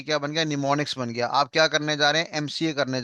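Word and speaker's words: mnemonics: यहां पे एम नाम का शब्द जो है वो साइलेंट है। और हम कैसे पढ़ेंगे? एन ई एम ओ एन आई सी S. That is known as निमोनिक्स।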